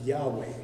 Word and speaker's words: Yahweh: have to gu in most people believe the word would have been pronounced Yahweh because Yahweh means one